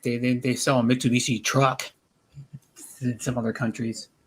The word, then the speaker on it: Mitsubishi: the cars very funny so he he'll say like mr bushy instead of mit yeah mitsubishi yeah mr bush yeah mitsubishi they they sell some